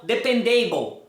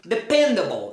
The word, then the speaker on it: dependable: Não, a palavra able só é pronunciada able se ela for individual, able. Mas se ela for parte de uma palavra maior, ela nunca vai ser a sílla tônica da situação.